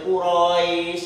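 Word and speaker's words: قريش: Jadi dibacanya tidak boleh Quraisy, tidak boleh, harus baca pendek Quraisy.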